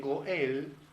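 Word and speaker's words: גואל: esto es muy simbólico esta palabra atención en hebreo se pronuncia goal Redentor en hebreo se dice Goel yeshua llamado Goel en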